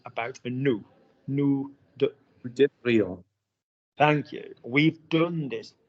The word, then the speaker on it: devrions: Luke, nous devrions.